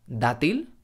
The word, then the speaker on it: dátil: y mucho menos v&v otro consejo muy importante es no pronunciar la d del español como una d del inglés por ejemplo a gates o ar hay día en español tenemos la palabra dátil por ejemplo que es